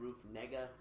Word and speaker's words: Negga: This film stars Joel Edgerton and Ruth Negga. That's how you pronounce the name.